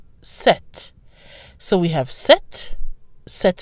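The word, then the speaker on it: sept: The pronunciation of the number 7 remains the same in all cases, with a silent P and a pronounced T. Set. Set.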